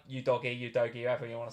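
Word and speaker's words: Udogie: going up to go you doggy people are saying that's how you say it save your doggy um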